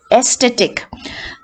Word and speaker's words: aesthetic: be stressed right now in words that end with ic all right i see which are ending in the words the penultimate syllables will be stressed that is syllable sata dividing up penultimate means second from the end but say aesthetic um aesthetic aesthetic n d in the